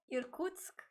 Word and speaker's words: Irkutsk: looks like from, I'm going to let Katya pronounce the city in Russia. Irkutsk, Russia.